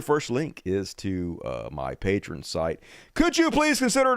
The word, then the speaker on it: Patreon: And that's how you say it, Patreon.